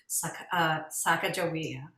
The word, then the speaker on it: Sacajawea: And we came to our pronunciation that we have chosen, which is Sacajawea.